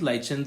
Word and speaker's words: lichens: What was lichens? Lichens or lichens, either way you can pronounce it.